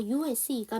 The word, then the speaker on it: use: 얘 발음이 지금 중요한데 이게 명사, 형용사, 동사로 발음이 된다면 이게 명사와 형용사가 된다면 이 S의 발음이 S 발음이에요. 근데 동사가 된다면 이 S의 발음이 Z 발음이 되거든요. 그래서 USE가 명사와 동사로 다 끝나기